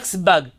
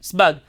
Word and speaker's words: Sebag: Today they'll call him Sebag, Asebag, Sebag. But when I heard Rabbi Shalom Massas say his name, he called him Rabbi Yitzchak Sebag, like that, Sebag. That's how he pronounced his name.